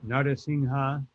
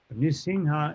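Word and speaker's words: Nṛsiṁha: You can say Narasimha. Nisingha is more proper in the sense that that's what our acharyas use. But Narasimha or Narahari, it's also acceptable. It's just that Nrsimha, generally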